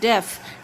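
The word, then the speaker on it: deaf: h h-e-a-d head h-e-a-d head d-e-a-f very good def d e a t yes h good b-r-e-a-d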